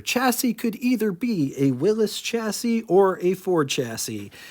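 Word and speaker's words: Willys: was a Dodge and Willis dealer yes that's how you're supposed to pronounce it everybody says Willies I I honestly don't care how you pronounce it I'm just trying to pronounce it right Willis Motors manufacturers of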